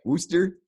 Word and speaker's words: Wooster: massachusetts but it's ohio worcester how do y'all say it wooster yeah actually worcester like like the word root you know yeah worcester yeah i